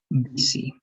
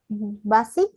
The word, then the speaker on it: busy: Pero en este caso va a ser un poco como I, algo rarito.